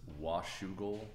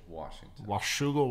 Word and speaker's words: Washougal: there was not scholar did how do you pronounce the city here man this is Washougal Washougal Washington Greater Portland area yeah it's actually a